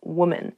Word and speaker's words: woman: Even though the singular and the plural form of women and woman have the same spelling at the beginning, W-O-M, the pronunciations are different. Woman, women.